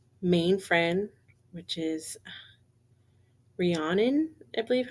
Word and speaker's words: Rhiannon: friends, but her like main friend, which is Rhiannon, I believe how you pronounce her name, Rhiannon.